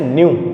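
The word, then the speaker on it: nu: यूज किया जाता है, जिसको बोलते हैं न्यू। क्या बोलते हैं? न्यू। ये उसका प्रोनाउंसिएशन है, NEU, न्यू।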